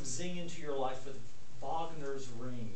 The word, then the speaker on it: Wagner: into your life with vogner's ring you pronounce it with a V because it's German I would guess that